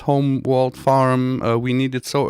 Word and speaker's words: HolmWold: pronounce it quite different think of it as homer yeah but it's not it's not home and it's not world so this is where